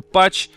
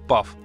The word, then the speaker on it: path: это слово правильно произносится я сам называл её пач люди называют там и пасы пах че только не называют Ну в общем правильно слово читается как пав Ну что ж Ладно